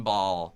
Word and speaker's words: Bahl: And look up Kevin Ball. All right. Last name is spelled BAHL. Got it. Kevin Ball, everybody.